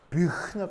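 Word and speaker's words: Büchner: 사람 이름은 되도록 원어에 가깝게 발음하는 게 뭐 예의가 아닌가. 배운 사람으로서 예의가 아닌가 싶어서 말씀드립니다. 그래서 이렇게 생긴 깔때기를 뷰흐너 깔때기라고 한다.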